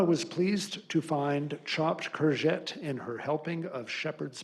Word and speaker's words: courgette: Clue was in the second pronunciation, courgette. It's Courge, and here's the French, Tte, double Te.